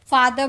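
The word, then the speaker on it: father: बोदर बोदर बोलते बोथर नहीं बोलते फादर बोलते हैं फादर नहीं बोलते तो थ का साउंड इन सारे वर्ड में होता है और द का साउंड इन सारे वर्ड में होता है।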